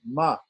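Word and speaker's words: म: is the regular M, ma, pronounced on the lips, ma. Not pronounced through the nose, through the nasal passages, ma.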